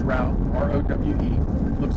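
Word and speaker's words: Rowe: We're getting off onto Rau Boulevard, and it is pronounced Rau, R-O-W-E.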